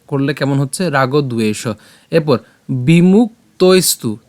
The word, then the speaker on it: রাগদ্বেষ: তা আমরা একসাথে উচ্চারণ করলে কেমন হচ্ছে? রাগদ্বেষ।